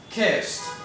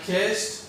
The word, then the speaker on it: kissed: to be like t, kissed. Why? Because the S is actually a voiceless consonant and it doesn't have any vibration in the throat. So therefore, we pronounce it like a t.